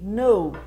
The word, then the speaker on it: know: O próximo ali, know. Conhecer, saber, lembre-se que o K é mudo. Sempre quando tiver esse K e N, fica mudo, tá?